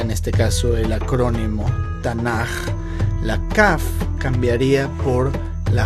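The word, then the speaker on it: תנ״ך: Note cómo el acrónimo de estas palabras hebreas quedaría como las 3 letras, Tav, Nun, Kaf, pero se lee Tanaj.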